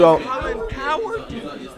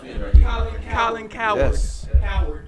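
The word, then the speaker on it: Colin Cowherd: is Colin coward so Colin coward the dude Colin coward Colin coward coward that's that's how his name is pronounced it's c o w h e r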